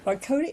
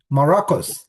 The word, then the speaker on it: Marrocos: gosh I'm sorry Marco Marone am I pronouncing it right um I'm sorry I didn't ask you how to pronounce your last name okay mahocus Morocus like the country oh okay so